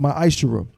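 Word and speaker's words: מעשר: Means 10th in Hebrew, and is pronounced ma'ashera.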